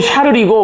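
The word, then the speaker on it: Charles: 이게 이제 불어로는 샤를이고, 그죠? 독일어로는 이제 칼이 됩니다. 발음이.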